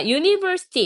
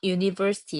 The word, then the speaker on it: University: 그럼 예를 들어서 자 University 이렇게 되면 대학이 그러면은 여기에서 유는 발음이 유라고 발음이 됩니다 그래서 이때는 a University 이렇게 자음으로 봐요데 똑같이